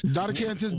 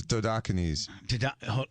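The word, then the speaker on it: Dodecanese: Decantis, Docantis Boulevard. What is the actual physical address of Tropics Tarpon Springs? 25 Docantis Boulevard, Tarpon Springs, January 20th at 6 o'clock. Dan, did he pronounce it right? It's Dodocanes.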